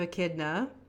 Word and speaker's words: Echidna: This is the Daughters of Echidna. Did I pronounce that right?